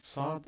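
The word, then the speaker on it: صاد: is a heavy scene people tend to transliterate sod as ps except instead of having a silent p it is actually indicating a heavy s or a heavy scene with a fat ha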